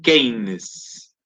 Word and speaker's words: Keynes: llama Keynes, John Maynard Keynes, y que de hecho da origen a una lógica económica que se conoce como el keynesianismo político. Se escribe Keynes con Y y con K, Keynes.